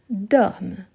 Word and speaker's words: dorment: 2e vous dormez ils dorment ici ce qui je prononce ce n'est pas le ent mais c'est plutôt le M ici ok dorme donc je